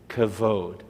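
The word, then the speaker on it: כבוד: of the phrase is cavod can you say cavod and what you're saying is you're pronouncing the C is a c especially with a dot in the middle that's a hard C Sound if I took the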